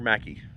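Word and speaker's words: Mackay: Just just where Mackie spelled McKay, but it's pronounced Mackey because I don't know.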